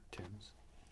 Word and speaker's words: Thames: I assume it's pronounced like the river Thames.